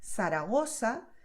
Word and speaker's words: Zaragoza: So someone from Latin America will say, Zaragoza, El Pozo, Pozuelo, Barcelona, Ciudad. And that's 100% correct. But you may have noticed so far in this video that I make a different sound. I make the sound of th, like when you say thing in English.